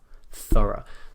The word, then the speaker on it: thorough: thought things like this also notice the pronunciation is very different to those words as well thorough it's not as thorough